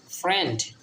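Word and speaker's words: friend: পরের ভাওয়েলের উচ্চারণ হয় যেমন ধরেন ফ্রেন্ড ওয়ার্ডটার ভিতরে প্রথমে কিন্তু প্রথম ভাওয়েলটার উচ্চারণ হবে না দেখেন এখানে কিন্তু আই এর কোন উচ্চারণ নাই এফ আর আই ইচ্ছা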